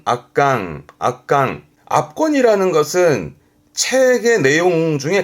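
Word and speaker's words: 圧巻: 발음은 악강.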